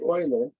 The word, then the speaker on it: Euler: important function of control cryptography cryptography this is pronounced euler this is the euler c function this is